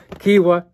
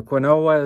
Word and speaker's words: quinoa: And the next one I like is, and these are not in any particular order, Kiwi, or quinoa as some people call it, and it's actually pronounced Kiwi.